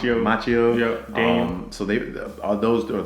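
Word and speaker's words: Macchio: Machio.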